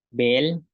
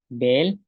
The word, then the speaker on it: beel: Tenemos, tenemos palabras como bat, que es granizo, bat, granizo, bej, bel, bej, bel, que es camino, que se puede decir de dos formas, bej o bel, que es camino, bin,